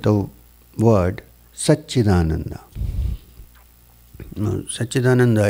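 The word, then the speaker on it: Satchidananda: word such in Ananda sat-chit-ananda is not one word it's three syllables put together of course one word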